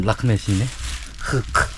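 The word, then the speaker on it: рахмет: Rahmet. 라크멧. 아니 우즈베키스탄은 라크맛인데 여기는 라크멧이네.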